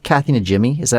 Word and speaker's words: Najimy: It's Najimy, Kathy Najimy. Is that how you pronounce it?